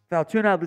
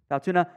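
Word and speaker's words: Fautanu: crazy with it uh Troy f funa i pronounce it funa I like the player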